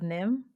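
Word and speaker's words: NIMH: to start with the secret of nim that's how you pronounce it right you don't say the h um for anybody who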